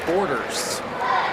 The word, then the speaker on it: Borders: The handwriting on the roster will receive looks like Bordens, but instead it's Borders.